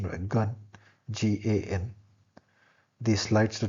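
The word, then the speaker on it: 干: The pronunciation were gun, G-A-N.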